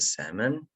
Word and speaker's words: salmon: and here as well salmon it's a silent l this one is a salmon and broccoli broccoli